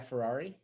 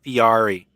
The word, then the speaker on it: Fieri: Guy Ferrari. Guy Ferrari? What's his name? Ferrari? Guy Guy Guy- Fury? Guy Fieri. No, it's pronounced Fiari.